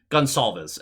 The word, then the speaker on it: Gonsalves: That name is spelt so differently than how it's pronounced, and I love it. I love this. Gonsalves is how they were pronouncing it.